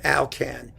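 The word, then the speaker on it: Alkan: was i'll call a-l-k-a-n in english we call him alcan it rhymes with calcan you know the dog food he was a french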